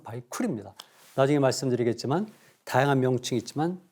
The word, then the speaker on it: 바이칼: 바이칼이 아니라 원 발음은 바이쿨이죠. 러시아 사람들이 바이칼로 발음했을 뿐이지 원 발음은 바이쿨입니다.